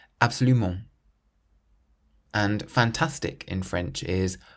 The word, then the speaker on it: absolument: Absolutely is absoluMENT, absoluMENT. So we stress the ment at the end, absoluMENT. So it's not absoluMENT or absoluMENT, it's absoluMENT.